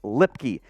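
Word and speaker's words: Luepke: player we'll go offense defense beginning with Hunter lipkey yes there is a a u in his name it is it is a trap it is pronounced lipkey out of North Dakota State a fullback three-time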